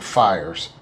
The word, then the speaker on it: VHIERS: and referral service and fires spell pH the pH makes the F sound like in big Pharma p i e RS